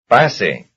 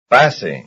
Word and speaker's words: pase: Pase. Pase. Pase, pase, that's the first syllable.